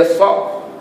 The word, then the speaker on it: saf: Ada orang tulis rumit SAF, saf. Saf tu jadi pronunciation dia rosak. Dia soft, soft atau barisan lah terjemahnya, tak apalah barisan itu.